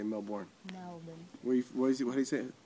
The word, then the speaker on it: Melbourne: melin I say Melbourne Melbourne where what how do you say how do you say Melbourne Melbourne you're forgetting the r there's a r in there yeah but we don't pronounce that you say melin but